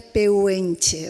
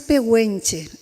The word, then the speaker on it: pehuenche: en este caso cualquiera cualquier lector leería puenche verdad como yo pero la pronunciación es pehuenche en mapuche es así Quisiera saber si